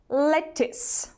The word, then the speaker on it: lettuce: A cucumber, lettuce. Обратите внимание на это слово, пишется здесь буква U, а читается она как звук И.